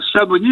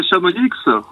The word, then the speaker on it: Chamonix: fill c'est bien larve chez nous dans la vallée de l'Arve on ne prononce pas les Z et les X d'accord mais dans l'AR